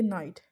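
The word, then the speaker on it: knight: Then के नाइट, तो इसको हमें जस्ट नाइट पढ़ना होता है, के हमारा साइलेंट हो जाता है।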